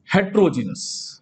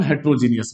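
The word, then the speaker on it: heterogeneous: दूसरा होता है हेट्रोजीनस, जिसे हम हेट्रोजीनियस भी कहते हैं।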